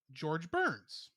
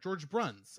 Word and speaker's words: George Bruns: hearts game wow also george burns sorry george bruns i said his name wrong he also wrote music